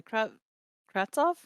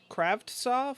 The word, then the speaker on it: Kravtsov: We also had Vancouver Canucks acquiring forward Vitaly Kravtsov. Kravtsov, I think. I don't know. I don't think it's a hard T, or I don't think you pronounce both. Kravtsov.